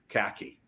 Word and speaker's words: Kahky: linkedin at julia m khaki i am pronouncing that correctly yes snacky like the pants okay all right very